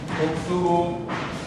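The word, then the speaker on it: اكتبوا: And here, remember to put an alif, which is silent. Okay? Put a circle on the small one to make sure that you know that this is a silent alif. It has no bearing on pronunciation. How you pronounce this doesn't really, this doesn't affect pronunciation.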